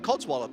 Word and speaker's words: codswallop: So Relic, can you eat a Codswallop? Did I do the pronunciation right? I mean, Codswallop, yeah.